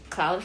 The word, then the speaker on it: Claude: Claude? Claude. Yeah, that's Claude, yeah.